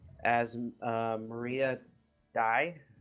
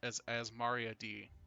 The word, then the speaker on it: Azmaria: the winner is sorry I probably mispronounced it as Maria died I di it's as Mario D thank you thank you and I probably didn't do the Dei right but I know it's Azmaria and it's a good